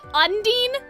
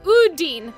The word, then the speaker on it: Udin: In the short, I was saying unin like un under, but it's uden like it's just like ooh.